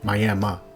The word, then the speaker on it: Miami: The city is spelled like the Miami in Florida, but I've been informed it's pronounced My-am-a.